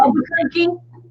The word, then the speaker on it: Albuquerque: Albuquerque is a city. I know that, but well, yeah, but how do you spell that?